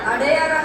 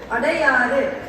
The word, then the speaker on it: அடையாறு: அடையாரா சொன்னீங்க? இடையெல்லாம் சரிதான், ஆனா அது சரியான தமிழ் உச்சரிப்பு இல்லை. ஆங்கிலேயர்களுக்கு சரியா உச்சரிக்க முடியாததால் அடையார் என்றார்கள். நாம இன்னைக்குமே அதே பிடிச்சிட்டு இருக்கிறோம். அடையாறு என்று சொல்ல வேண்டும்.